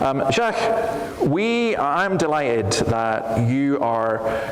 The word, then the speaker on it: Jacques: The trick to my name is mainly to ignore most of the letters when it's written down. Okay. So it's pronounced Jacques. Yeah. But I think in France they say it more similarly to how you say it.